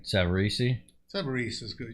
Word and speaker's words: Savarese: Right, Savarese? Savarese is good. You don't need to pronounce that last E on there.